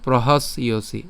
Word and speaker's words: প্রহাস্যসি: প্রহাস পর্যন্ত উচ্চারণ করছি, অর্থাৎ দন্তস্ব পর্যন্ত উচ্চারণ করছি। এবার যে জফলা আছে, জফল উচ্চারণ আমরা যেহেতু জানি ইয়র মতো হবে, তাহলে ইয়র সাথে সি উচ্চারণ করছি, তাহলে প্রহাস ইয়সি।